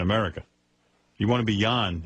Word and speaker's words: Jan: And by the way, tell Jan it's John in this country. J-O-N is John. It's Danish. Well, whatever. This is America, pal. Jan is Y-O-N. Right. Here in America. You want to be Jan, it's Jan.